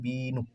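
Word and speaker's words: 비누: এটা হচ্ছে হুসু বিনু তাহলে এটার উচ্চারণ হচ্ছে বিনু বিনুতে হয় হচ্ছে সাবান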